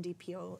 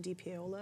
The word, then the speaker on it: DiPiola: It was started by a woman called Ellen DiPiola. Her name is Ellen DiPiola, if I pronounce that. That's right, DiPiola.